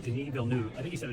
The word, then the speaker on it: Denis Villeneuve: Denis Villeneuve. Denis Villeneuve.